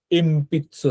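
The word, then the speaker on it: えんぴつ: তো এখানে উচ্চারণটা এই নয়ের উচ্চারণটা ময়ের মতো হবে, এম পিৎসু হবে।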